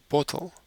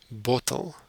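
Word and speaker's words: bottel: bottle in Africans is bottle it's very similar but a slight difference in pronunciation bottle the plural bottles in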